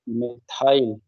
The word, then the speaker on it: methyl: 1 chloro, सी पहले आएगा, 1 chloro, फिर 2 मेथिल, मेथाइल, 1 chloro 2 मेथाइल, मेथाइल और मेथिल हम लोग जब पढ़ते थे हिंदी मीडियम में तो उसमें मेथिल लिखा रहता था। नाउ it's pronounce as मिथाइल।